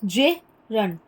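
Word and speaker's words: gerund: इसका प्रोनाउंसिएशन देखिए कैसे करते हैं, जिरंड, जिरंड।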